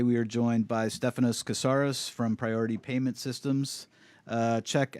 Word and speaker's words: Koursaris: Koursaris. I'm just not gonna say it. Koursaris.